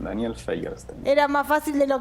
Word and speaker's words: Feierstein: ¿Cómo se pronuncia? Así como se escribe, Feierstein, Daniel Feierstein.